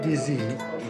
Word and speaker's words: dizi: How do you pronounce the specialty here? Dizi? What they serve is called dizi, which actually is the name of the pot.